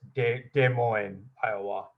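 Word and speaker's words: Des Moines: rusty wire and wood i just want to point out that this is the s is silent here it's de moines um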